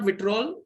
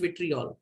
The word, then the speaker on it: vitriol: ठीक है, इट इज नॉट विट्रोल, इसकी स्पेलिंग में सही कर देता हूं, इट इज विट्रियोल.